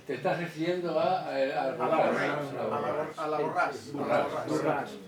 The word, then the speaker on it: Borràs: Te estás refiriendo a la Borràs. Se pronuncia Borràs.